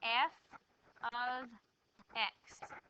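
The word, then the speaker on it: f(x): you'll only get one y back out we pronounce this as f of x it literally means the Y value or the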